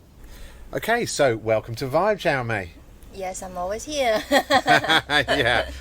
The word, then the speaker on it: Xiao Mei: Because, my name can be pronounced like 2 ways or 3 ways. One is the proper Chinese Mandarin way, which is Xiao Mei. Okay. Yes, Xiao Mei.